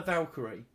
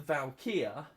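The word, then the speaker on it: Val'kyr: their her their her valkyrie um and um valkyria valkyr i think it's pronounced anyway val apostrophe kyr um they have the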